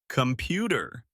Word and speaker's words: computer: Computer. We stress the second syllable.